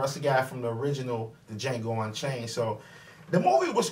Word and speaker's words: Django: He said, "DJango." The D is silent. The guy that he said that to, that's Franco Nero. That's the guy from the original DJango Unchained.